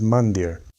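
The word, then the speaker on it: मंदिर: The very name of the temple in the tradition of Sanatana Dharma is pronounced as 'mándir.' Mandir, and in the south, in Tamil, it is called 'kovil.'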